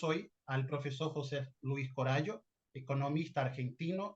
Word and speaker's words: Coraggio: Y hoy tenemos el honor de recibir a un invitado muy especial que es José Luis Corallo. Pido a Dios que la pronunciación Corallo esté correcto.